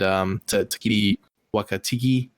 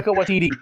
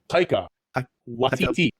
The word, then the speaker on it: Taika Waititi: Yeah, they actually bring back all 3 of those guys from the movie, and Takiti Wakatiki. Whatever. Taika Waititi.